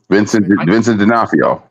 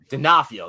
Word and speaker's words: Vincent D'Onofrio: How do you say his name? Vincent D'Onofrio. D'Onofrio, yes, Vincent D'Onofrio.